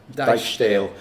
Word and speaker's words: Dijksteel: Dijksteel. Right. Double letters in German and Dutch. Yeah. Don't go like English where they change the sound, they just go longer.